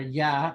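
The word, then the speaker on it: ي: you are pronounced so yeah is pronounced very simply by raising the middle of the tongue without making it fully touch the top of the amount uh once you do that that's basically how the letter ya is pronounced you are thinking what does that mean so yeah it's pronounced basically from the exact same area as a sheen right so when you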